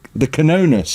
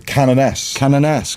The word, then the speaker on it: Canoness: But yeah, the Canonus, is that how it's pronounced? I don't play the game. Canoness, got it.